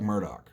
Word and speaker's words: Murdaugh: this is the South and everyone has bizarre pronunciations to their various other names, his name is Alec Murdaugh.